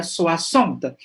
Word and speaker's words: soixante: Memang ya kalau lihat tulisannya akan salah ya mengejanya, tulisannya bacanya gimana tadi ini no, soissons. Tapi tanpa melihat tulisannya tadi sudah tahu ya soixante.